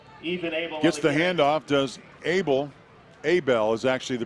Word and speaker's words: Abel: Abel is actually the pronunciation on Ethan Abel from Oakley.